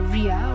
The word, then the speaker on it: Ria: you didn't have a ria or a boyfriend either Ria okay that's how it's pronounced Ria you made them